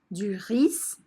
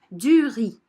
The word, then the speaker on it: riz: des pâtes du riz attention je ne prononce pas duris mais du riz des haricots ici je